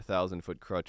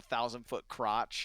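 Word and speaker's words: Thousand Foot Krutch: was i don't know you single-handedly ruined a thousand foot crutch with me crutch by mispronouncing their name oh the time i accidentally said a thousand foot crotch yeah jack and now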